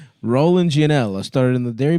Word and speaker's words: Rollin: But it's spelled Roland like a like a wheel. R O L L I N. Keep rolling rolling rolling rolling.